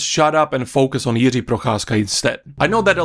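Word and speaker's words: Jiří Procházka: have another Banger on the main card dude Yi prasa that's how you pronounce his name against Jamal Hill I don't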